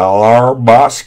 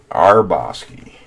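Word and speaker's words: Hrabosky: go yeah yeah yeah our Bosque H is silent we're calling H and the R is silent no hrabowski our Bosque st.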